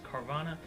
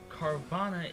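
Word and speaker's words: Carvanha: a pokemon known as carvana carvana is a water dark type it's like it's a fishish thing it's it's like a piranha hence the name carbon it rhymes yay okay uh as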